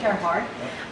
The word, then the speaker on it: Gerhard: Glenn Gerhard. Am I pronouncing that? Gerhard. Gerhard.